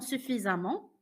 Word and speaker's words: suffisamment: Comme récent, c'est récemment, fréquent, fréquemment, suffisant, suffisamment, on prononce amant.